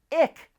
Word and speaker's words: IQ: As you probably know, all of Cadillac's new EVs end in IQ, which is supposed to be pronounced ick, lyric, celestic.